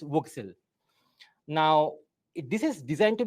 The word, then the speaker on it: WGSL: The big change is that WebGL uses GLSL and WebGPU uses a new shader language called WGSL, pronounced Voxel.